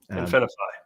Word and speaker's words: InfiniFi: about with him today uh concerning his uh infiny is that how you say it yeah yeah that's how you say it infiny but we're gonna get into that a little